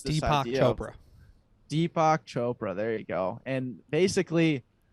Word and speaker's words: Deepak Chopra: this book, The Seven Laws of Success by Chupa Doperock, or what, I forget the freaking guy's name. I just butchered it, but basically he explains this Deepak idea Chopra. of Deepak Chopra.